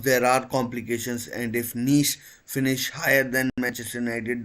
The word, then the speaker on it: Nice: And of course, he already owns a club in Nice, OGC Nice. Yes, that's how it is pronounced, not nice, not anything else. It's Nice. It's pronounced Nice, and he'll be bringing in his experience.